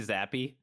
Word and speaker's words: Zappe: I'm pretty sure that's an Italian name, and so technically his Zappe. name would be like it's like Zappe. Zappe.